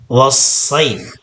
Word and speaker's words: الصيف: Ilafihim rihlatash shita'i was-sayf. Okay? Dito po ay was-sayfi. Pero kapag puputulin po natin o kapag hihinto po tayo dyan, ay was-sayf lang po ang ating pagbigkas.